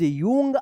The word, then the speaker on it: young: देखिए यहां पे आपने पिछले क्लास में आपने कमेंट किया था कि YOUNG, यूंग, आप इस तरह से कमेंट कर रहे थे जो गलत था. इसका सही उच्चारण होगा यंग.